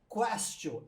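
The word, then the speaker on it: quaestio: Porque Castio lembra questionar, porque em latim se pronuncia questio, e em latim questio quer dizer o quê?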